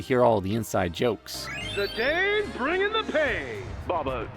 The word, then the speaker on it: Zidane: Zidane bringing the pain. Baba, it's pronounced Zidane.